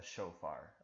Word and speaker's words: shofar: you to just write out, what is a shofar? I just laid it out for you. It's spelled S-H-O-F-A-R, shofar.